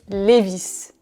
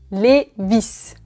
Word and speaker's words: Levi's: Oui, on dit Levi's. Levi's.